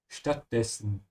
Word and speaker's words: Stattdessen: Stattdessen is instead, and also notice how I'm pronouncing the st, yeah, because the S comes before a T. Stattdessen.